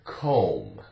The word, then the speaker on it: comb: together m and b the B is silent no sound and here are some